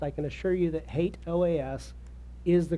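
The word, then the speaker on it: HATEOAS: in the past I can assure you that hate OAS is the correct pronunciation I'm also going to bring in the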